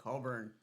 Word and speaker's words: Coulbourne: And we have our first guest here today, Coulbourne. Did I say that right? Yeah, that's how it's said.